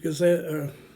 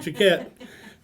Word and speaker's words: Jaquette: the Navy retired Chief Gazette. Pronounce your name again? I pronounced it wrong. Jaquette, Chief Gazette, and this can be edited out there, by the way.